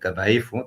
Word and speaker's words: dhaifu: You might say a thing like dhaifu. Dhaifu is 3 syllables.